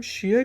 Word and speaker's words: shear: अब इसको भी हम शेयर कहते हैं, लेकिन इसके स्पेलिंग होते हैं SHEAR, शेयर।